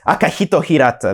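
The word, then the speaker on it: Akihiko Hirata: I think I mispronounced his name right there, but I mean, damn. Oh, it's Akihito Hirata.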